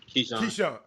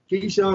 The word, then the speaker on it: Kincheon: Cameron, how you pronounce his last name? How? Keyshawn. Keyshawn, like Keyshawn Johnson.